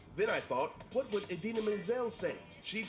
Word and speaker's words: Idina Menzel: During the 2014 Academy Awards show, he mispronounced Idina Menzel's name as she was about to perform her hit song, Let It Go, from the movie Frozen. But he didn't just mispronounce the name, he completely changed it. Hilariously, he called her the wickedly talented, one and only Adele Dazeem.